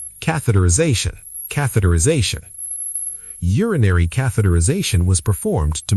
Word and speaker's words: catheterisation: 6 syllables. The I before Z sounds like I. Catheterization. Catheterization. Catheterisation.